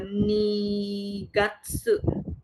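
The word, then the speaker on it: 二月: Bulan kedua itu dibilangnya eh nigatsu Februari.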